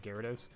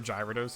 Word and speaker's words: Gyarados: hoenn region's counterpart counterpart to gyarados or gyrados if you uh pronounce it wrong um and i always